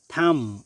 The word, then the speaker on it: thumb: THUMB, থাম অর্থ হচ্ছে বৃদ্ধাঙ্গুল, এখানেও বি এর উচ্চারণ হয়নি।